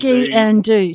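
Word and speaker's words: sgian-dubh: sparing don't want to this is called a ski and do um so ski and Ski and do so put your skis on and do what no it's pronounced ski and do it's actually not pronoun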